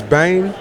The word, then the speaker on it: Bem: so my name is bane pronounced like name but bang yup but